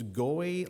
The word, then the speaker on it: Goei: It's Goey like joy.